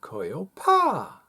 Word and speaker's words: Koyopa: with it solving problems with coil paw I do believe that's the correct pronunciation now what is koyopa